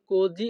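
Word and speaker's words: così: এই বাক্যের ইতালিয়ান ভাষা হবে কোজি অ পেনসাতো। কোজি অ পেনসাতো। এখানে এস আই এর উচ্চারণ হবে জি, এইচ ও এর উচ্চারণ হবে অ।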